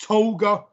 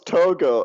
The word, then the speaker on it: Togo: uh for senegal against toga went up collided with a defender and how do you mispronounce togo as toga i said togo said togo you didn't